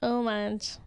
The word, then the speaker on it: homage: the metcha experience is a h is it homage homage homage homage let me try that again The Meta experience is a homage you don't pronounce the the H omage do forage omage omage The Meta experiences an omage to our Asian-American